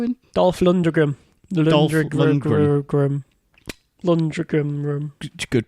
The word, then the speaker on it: Lundgren: Lundgren. Good pronunciation, mate.